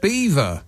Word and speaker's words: Belvoir: which they are written Bob says Belvoir r Castle b e l v o i r is pronounced Beaver castle if it was the